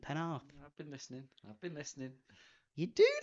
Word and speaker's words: Penarth: Good pronunciation, Penarth.